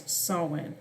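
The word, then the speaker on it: Samhain: from Irish GIC and it's and is correctly pronounced in English as saan oh sorry about that the 's title is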